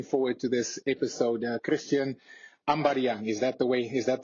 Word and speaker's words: Ambadiang: Christian Ambadiang, is that the right way to say it?